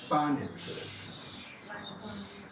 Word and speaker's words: Spanisch: Y también hacemos este ruido si viene la S con una P. También en el inicio de una sílaba. Spanisch. Sprechen. Spiel.